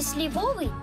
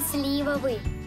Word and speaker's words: сливовый: Ребята, ставить ударение в словах надо правильно. Запомните, не сливовый, а сливовый.